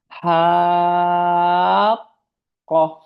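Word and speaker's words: حاقة: Ketika ada huruf mad di situ dan setelahnya ada huruf sukun, maka dia dipanjangkan terlebih dahulu agar bersiap-siap untuk mengucapkan huruf setelahnya. Makanya dibacanya ha qoh. Karena kalau haqqoh enggak ada panjangnya, itu enggak akan beda antara haqqoh yang sebelah kiri dan haqa yang sebelah kanan.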